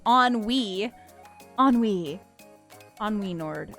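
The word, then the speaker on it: ennui: That's why I'm saying I thought it was Enui or whatever because I remember hearing somebody say it like that even. I was like I didn't even know that's how it was pronounced. But apparently it's not. It's on Wii.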